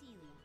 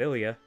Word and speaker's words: Ilya: My name's Ilya, and he's Ronnie. Oh, is that how you pronounce it? I've been pronouncing it Ilya.